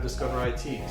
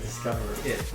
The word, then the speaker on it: Discover IT: I thought you said Discover It. No, it's Discover IT.